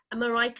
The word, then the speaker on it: Marijke: So we've got the amazing Marijke. Have I pronounced that correctly?